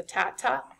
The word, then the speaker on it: TATA box: So sometimes that um print bow uh box is sometimes also referred to as the tata box has t a t a tat ta